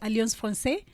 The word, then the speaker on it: Alliance Française: Most people call it Alliance Française.